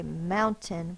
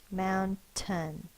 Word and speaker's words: mountain: we say it so when we say mountain we stress the first syllable mound and then ten in the unstressed syllable most of the time the vowel is going to be the schwa which is the upside down e